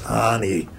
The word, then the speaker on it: Ani: 23rd in 1970 uh I should correct my own pronunciation there is Anie uh spelled a an I but Anie and the youngers of you uh View will know that automatically um by 15